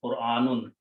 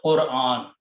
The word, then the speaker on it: Qur'an: Most of the Indian Pakistani people pronounce this word wrong. How do they pronounce? They say Quran. Oh, that's how they pronounce it, Quran. Okay, that's wrong pronunciation. It is not Quran, Quran. Okay, so let's correct this one. The correct pronunciation should be that.